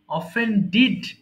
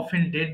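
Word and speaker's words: offended: অফেন্ড মানে অন্যায় করা, অফেন্ড, অফেন্ডিড, অফেন্ডিড। এখানেও কিন্তু অফেন্ডেড না হয়ে অফেন্ডিড উচ্চারণ করব।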